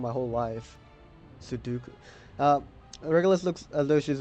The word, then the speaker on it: Sudoku: Sudoku!